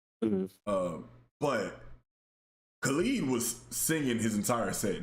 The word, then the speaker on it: Khalid: But Khalid was singing his entire set.